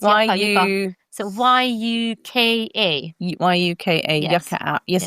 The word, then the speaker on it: Yuka: How do you spell that? Yes, it's Yuka.